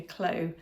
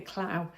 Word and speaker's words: Clow: And yeah, my next finished project is my Kintra bag by Rebecca Clow. Somebody corrected me. I think in my last podcast I called her Rebecca Clow. And someone commented, it rhymes with snow.